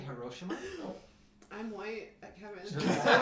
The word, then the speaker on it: Hiroshima: Hiroshima. It's actually Hiroshima.